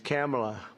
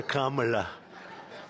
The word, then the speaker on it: Kamala: It's Cam, right? Cam as opposed to Com.